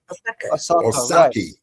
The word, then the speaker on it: Osaka: Osaki. Osaki. Like sake, rice wine. Put O in front of it.